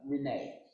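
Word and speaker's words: Rena: And Mariah had two sisters that I hadn't traced also, Nancy and Renee. I think it's pronounced Renee, spelled R-E-N-A.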